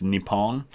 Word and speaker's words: Nippon: we call it english i think in japanese it's nippon so things like that